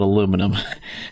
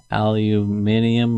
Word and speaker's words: aluminium: I can't say it the right way to say it where I grew up we call it aluminum yeah aluminium or something like that yeah let me find